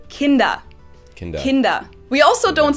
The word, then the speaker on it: Kinder: word kindergarten in german we don't say hinder we say kinder kinder we also don't